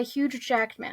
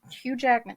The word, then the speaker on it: Hugh Jackman: you uh obviously he was being portrayed by huge Jackman I mean Hugh Hugh Jackman excuse me stupid mouth little mispronunciation there anyway so wolvy comes into the